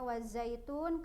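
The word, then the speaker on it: وَالزَّيْتُونِ: Bismillahirohmanirohim qwerty new wazaitun ini di akhir ayat dibacanya wazaitun Karena memang dibacanya di waqaf atau berhenti kalau misalnya dibacanya diwasalkan maka dibacanya qwerty ini wazaitun Nikmah karena ini dibacanya waqaf di akhir ayat maka dibacanya watini wazaitun Ayo kita lihat kalimat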